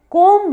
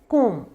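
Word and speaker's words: comb: कंघी आप सब समझते ही होंगे, कोम्ब नहीं होता है, कोम, कोम। बी को हम साइलेंट रखेंगे।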